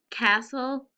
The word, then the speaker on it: castle: repeat after me s-t-l-e castle soul good remember this is an exception to the consonant l e because we have two silent sounds not just the e but the t as well i'm bringing back to